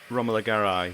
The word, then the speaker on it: Romola Garai: Maybe something like Romola Garai, is that how you pronounce it? I did look her up. Romola Garai, yes.